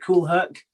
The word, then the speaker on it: Kool Herc: Is that how you pronounce it, Kool Herc?